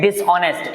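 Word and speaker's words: dishonest: इसको पढ़ते हैं डिसऑनेस्ट। एच जो है वो साइलेंट रहता है इसमें।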